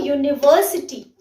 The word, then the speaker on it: university: words begin with the val but they are pronounced with the u sound which is a consonant sound again like a university university or european so the sound there when